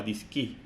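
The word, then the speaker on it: DSKY: que les mostré antes, se pronunciaba DISCI en realidad.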